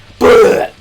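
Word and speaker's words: Blau: The spirit's name was Balau, B-L-A-U. That's how you pronounce her name. Bleu.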